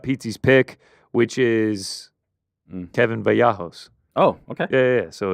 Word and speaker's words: Vallejos: Every time I say his last name, I pronounce it wrong. Vallejos. Vallejos. Vallejos.